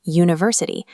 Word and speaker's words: university: When you say university, the first sound is y, the Gujarati vyanjan y.